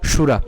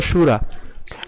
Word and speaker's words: শূরা: কারণ হচ্ছে এখানে দন্ত স নেই, এর তালব্য রয়েছে, এই জন্য এর উচ্চারণ কেমন হবে? সুরা। তাহলে অত্র শূরা।